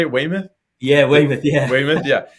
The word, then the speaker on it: Weymouth: I think that was is that how you say it, Weymouth?